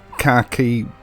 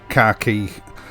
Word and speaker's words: khaki: Now, this is the Hamilton Khaki Field Pioneer King, or is it the Hamilton Khaki Pioneer Field King, or the Hamilton King Khaki?